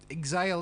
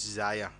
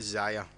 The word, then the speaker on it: Xia: So Mercedes Martinez versus Xia Li. Zaya. Xia. Zaya. Xia. No, it's Zaya. Her name starts with an X, not a Z. It does. It's pronounced Zaya. Xia Li. Like xylophone.